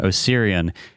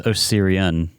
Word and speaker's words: Osirian: And out of all the ones in Galarian, Osirian is like... I thought it was just Osiria. It is Osirian. Mm-hmm. Huh. Yeah, it is Osirian. It's like O-N is how it's spelled.